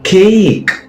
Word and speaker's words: cake: Cake. Cake. Sound it? Yeah. Cake. Please do not use Sri Lankan sound for that. Right?